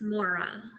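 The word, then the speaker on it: Moira: The I is silent, so it's Mora.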